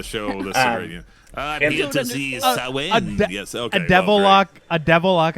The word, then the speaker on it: Samhain: I'm a much bigger Sam Hain and Danzig fan than I am a Misfits fan at this point.